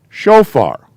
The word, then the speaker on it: shofar: an o sound so this is show this is an f sound so that's far got it shofar uh two two syllables okay we already know